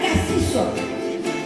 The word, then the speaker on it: Cassis: route qui mène à Cassis. Et tu ne veux pas passer pour un parigot, hein? Tu dois bien prononcer le S de Cassis. Comme le font encore les provençaux. Cassis, comme le pastis.